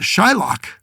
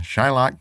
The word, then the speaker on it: Shylock: It's spelled K-O-C-H. But Shylock, that's an interesting one.